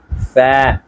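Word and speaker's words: ف: তারপরে আমাদের এসেছে ফা ফা ফা, এখানে আমাদের দাঁতটা লাগাতে হবে, ফা ফা ফা, এরকম ভেতরে রাখলে হবে না, এই উপরের অংশে আমাদের দাঁতটি লাগাতে হবে।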